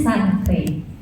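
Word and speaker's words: chancre: Nah stadium 1 itu disebutnya itu oral sancre, bacanya sancre.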